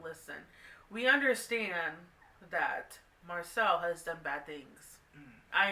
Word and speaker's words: Marcel: fact that he's just, I don't know, I'm Marcel's fan, so. Yeah, I think the only reason why I'm on Marcel, whoa, I said his name wrong, Marcel, is